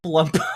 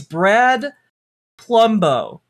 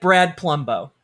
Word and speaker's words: Palumbo: I just is his real name Plumbo? No, it's his real name is Brad Plumbo. But I see we're getting hung up on this again. It's spelled Palumbo. So if I were to overpronounce it, it would be Palumbo. Like Columbo, but Palumbo.